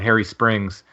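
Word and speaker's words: Hairy Springs: There's one place in particular called Harry Springs Harry Springs Hollow. That and it's spelled Hairy.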